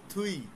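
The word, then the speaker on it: 뒤: আচ্ছা, এই যে আমরা বলছিলাম আপ মানে সামনে, এই যে পরের পৃষ্ঠায় আছে থুই, আমরা যদি দেখতেছি দুই, উচ্চারণ হচ্ছে থুই, থয়ের মতো উচ্চারণ।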